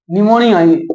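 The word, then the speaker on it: pneumonia: निमोनिया, इसको English में लिखते हैं PNUMONIA है। पी से शुरू होता है, साइलेंट रहता है।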